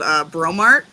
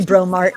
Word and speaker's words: Breaux Mart: we have a grocery chain out here called Bromart, and it's spelled Breaux Mart. Oh my gosh. Yeah, that would be Bromart.